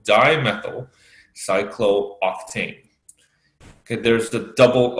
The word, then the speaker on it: cyclooctane: double O in cyclooctane normally if you will pronounce this like cook tain always like you know this chemistry so it's not English you gotta have to pronounce that cyclooctane and you must have